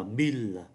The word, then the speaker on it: mille: có con số 1, con số 1.000 đọc là mille.